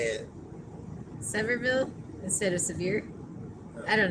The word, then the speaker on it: Sevierville: us but it's cute so Sam says it's pronounced so severe Sevierville it's the home of Dolly Parton oh okay cool how did you say it Sevierville instead of severe I don't know Larry said